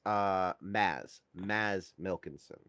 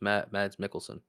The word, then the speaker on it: Mads Mikkelsen: it's actually so I'm actually mispronouncing it. It's Maz Milkinson. Oh, I always thought it was Mads Mikkelsen.